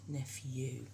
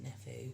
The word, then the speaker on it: nephew: You hear the F sound, the F sound, but it's p. N, F, and then E-W on the end. U, nephew, not nephew.